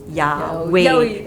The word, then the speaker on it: yaoi: from other terms like bromance, shonen ai, and yaoi. Yeah, okay, this is the one that I always have problems pronouncing.